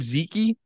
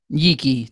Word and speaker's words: Yeke: And like that's kind of how it is for OKC when you see and how do you say his last name? Zeke? Yeke. Terence Yeke. Yeah. Yeke.